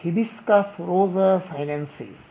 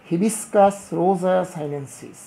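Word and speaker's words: Hibiscus rosa-sinensis: পড়ে, এটি ঠিক না, বিজ্ঞানের ছাত্র হিসাবে সঠিক উচ্চারণ করা বাঞ্ছনীয়। তাহলে আমি বলছি তোমরা শুনবে এবং ঠিক সেভাবে শিখবে। জবা, হিবিসকাস রোজা সাইলেন্সিস, হিবিসকাস রোজা সাইলেন্সিস।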